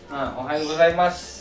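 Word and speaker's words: おはようございます: buat dalam bahasa oh nanti bakalan bisa tahu ohayou gozaimasu teman-teman ulangi Ohayo gozaimasu ohayou gozaimasu ohayou gozaimasu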